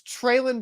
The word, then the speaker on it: Treylon: i'll give you that but it's treylon burks yes traelin burks all right s smith